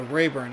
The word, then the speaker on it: Raburn: We'll get the pronunciation in a second. Oh, Rayburn, okay.